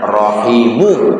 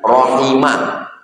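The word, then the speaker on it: رحمه: Warahimuhu. Bacanya rahimuhu. Marfu bukan rahima bukan rahimi. Bukan majrur bukan mansub.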